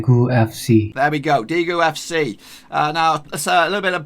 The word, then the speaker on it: Daegu: is a Daegu FC now is that how you pronounce it probably not this is how you're supposed to pronounce it it's d gu FC d gu FC Robin